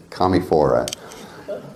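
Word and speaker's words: Commiphora: new world equivalents to I didn't say it commie for us yes you're gonna get me changing that's that pronunciation for years and years and years I said it the other way and I'm not going to anymore because it's commie fora say it with me so another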